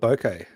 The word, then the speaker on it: bokeh: How do you pronounce it? Bokeh. I call it bokeh. Bokeh. like a bouquet of flowers.